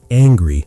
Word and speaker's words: angry: It is angry, not hungry.